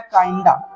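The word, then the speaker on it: kinda: अब next word हमारे पास में दिया गया है काइंडा।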